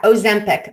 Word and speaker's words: Ozempic: Is that yeah, Ozempic.